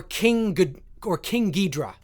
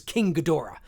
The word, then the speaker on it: King Ghidorah: Or King Ghidorah, which is King Ghidorah. King Ghidorah, I believe, is the correct Japanese pronunciation.